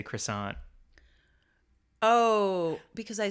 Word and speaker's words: croissant: like Russell Crowe song it's a French word I'm gonna pronounce it the French Way because it's French word I feel like I'm